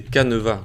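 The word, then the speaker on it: canevas: Yes, et en français c'est caneva comme ça.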